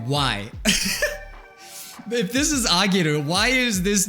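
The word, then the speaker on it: 上げる: But when it's next to hiragana, it changes the pronunciation. And instead of being ue, it is now ageru. So it's an A sound now. So ageru. But when it's put next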